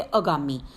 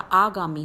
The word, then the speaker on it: आगामी: क्या उसका उच्चारण करें तो ये अगामी अगामी नहीं होता आगामी होता है तो अ के साथ आ की मात्रा लगकर आ बनाएंगे आगामी अगला शब्द जो लिखा